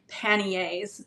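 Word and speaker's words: paniers: the dress underneath would be called panyas. It's spelled P A N I E R from the French. And then in English we pluralize it to be panyas and that's what they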